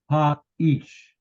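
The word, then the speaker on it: האיש: Ha-ish. Ha-ish. Don't see a dagesh anywhere here. I mean, or a shva anywhere. But we see a consonant with a vowel, ha. Ish, 2 syllables.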